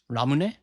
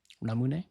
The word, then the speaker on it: Ramune: Ramune. Ramune. Yeah, cuz I know like you like phonetically the the the U vowel is is more or less silent in Japanese.